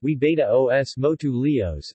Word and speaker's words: huevos motuleños: huevos Motul Enya's pronounced we betta OS MOTU leo's is a breakfast food which originated in the